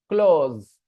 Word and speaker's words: clause: CLA because it's not correct actually the correct pronunciation is close close Okay close not close not close that